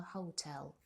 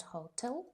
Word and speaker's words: hotel: We took a taxi from the airport to our hotel. The second syllable is stressed, not hotel, but hotel.